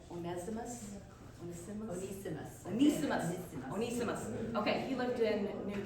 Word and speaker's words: Onesimus: Onesimus.